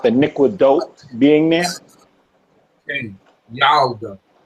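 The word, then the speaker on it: ילדה: Yalda. Say it again. Yalda. Yalda.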